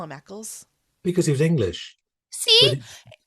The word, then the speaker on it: Eccles: How do I pronounce his name?" I started to get very paranoid. So you call him Eccles.